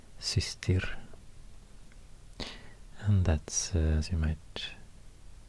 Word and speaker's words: systir: So it's not sustir, it's systir.